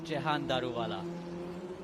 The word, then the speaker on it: Jahan Daruvala: It's Jahan Daruvala.